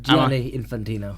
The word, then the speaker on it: Gianni Infantino: with the FIFA president Gianelli infantino is that how are you pronounce Allah no cuz you're adding a few letters they're not there is just Gianni Infantino yeah what is Gianni